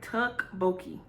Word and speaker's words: Tteokbokki: Tteokbokki.